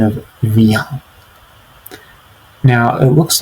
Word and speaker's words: viens: The second tip here is the pronunciation of viens. Now, it looks like it might be pronounced viens or viens, but it's pronounced viens. Viens. And notice how the ah sound is nasalized.